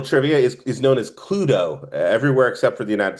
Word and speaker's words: Cluedo: You go to Europe, you buy the board game, for some reason it's called Cluedo. I don't I don't know why. Cluedo, like Pluto?